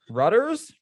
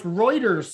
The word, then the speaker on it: Reuters: have some stuff from reuters rudders reuters that's a stupid way to pronounce it no it's reuters so it sounds like